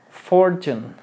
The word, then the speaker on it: fortune: an Island fortune fortune no es fortune es fortune lo que es la letra T es muy difícil para nosotros los hispanos pronunciarlo porque nosotros queremos decir te ti to t y en inglés es a ver repite Entonces es entonces aquí